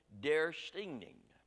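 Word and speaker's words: döstädning: and practiced my best Swedish accent on this dare stinging is the way it's supposed to be nouns pronounce their stinging and that word literally means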